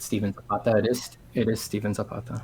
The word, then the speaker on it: Zapata: Is it am I saying it wrong if I say it like a white dude and go Zapata? No, I say it like a white dude depending what company I'm in. Gotcha. I'm a chameleon, and we'll try to blend culturally, so anything's fine.